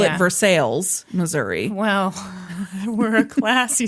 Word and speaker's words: Versailles: in Missouri, they pronounce the L and everything. They call it Versailles, Missouri.